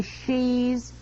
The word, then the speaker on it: ski: all their children be she's? Oh, cut it out now, will you? Don't you get it, dear? In Norwegian, ski is pronounced she. You know, she.